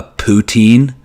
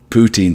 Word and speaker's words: poutine: doing awesome doing awesome i have a a poutine on the way it's getting delivered to me